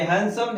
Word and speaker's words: handsome: ठीक है, तो डी का उच्चारण हमें नहीं करना है, इसको हम पढ़ेंगे हैंडसम, हैंडसम मतलब सुंदर।